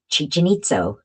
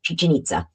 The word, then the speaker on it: Chichen Itza: Places like, I'm sure I'm not going to pronounce them well, but I'm going to try my best. In my best Georgia Tsoukalos, Chichen Itza. I thought it was no, Chichen Itza.